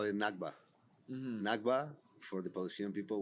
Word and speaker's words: Nakba: Nakba? Nakba.